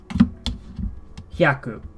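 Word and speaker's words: 百: 100 or 100 something, you simply say hyaku. You don't say ichihyaku. You just say hyaku.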